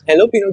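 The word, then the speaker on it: jalapeño: there's this thing called jalapeno. jalapeno. jalapeno, like पर जे है ना, हाँ बट भाई वो प्रोनाउंस नहीं होता है, वो हेलोपिनो की तरह से प्रोनाउंस होता है क्योंकि वो उस हिसाब का बना हुआ है।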